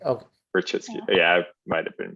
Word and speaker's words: Rachitsky: Oh, Rechitsky. Okay. Rachitsky. Yeah, I might have been mispronouncing it.